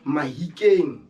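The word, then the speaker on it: Mahikeng: changed from african to mahikin due to the accent of barolong in sauna it's hard for them to pronounce f so they use h instead of f for example when they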